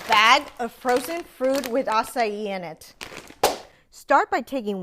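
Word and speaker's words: açaí: First, the correct pronunciation is acai.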